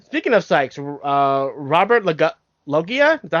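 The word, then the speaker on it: Loggia: of syes uh Robert loia is that how you pronounce his name it's r as in Robert Loa Lo thank you oh as in oh my God that's Robert loia sorry all you family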